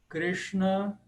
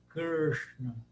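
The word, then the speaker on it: कृष्ण: para ficar mais fácil as pessoas costumam falar Krishna ou rva ou R as pessoas falam assim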